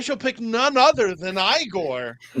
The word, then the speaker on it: Igor: and Bob, I shall pick none other than Igore.